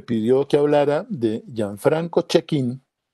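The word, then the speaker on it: Cecchin: de gianfranco check in en italiano check in se pronuncia el nombre de él en italiano la c y es que la c y es sí ok y con la h suena como nosotros entonces gianfranco check in y el otro de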